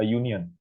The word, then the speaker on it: union: Kayak contohnya a union, di sini pakai y, pakai y ya, bacanya a union, a woman, a pen.